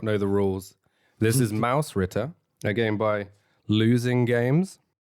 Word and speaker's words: Mausritter: if you don't know is a game or pronounced properly Mouse Ritter oh your pronunciation is getting good Mike um